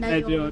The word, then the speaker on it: Nachombe: relax and pronounce it Nachombe.